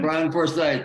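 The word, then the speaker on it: Bryan Forsythe: Brian Forsyth. That's how you pronounce it.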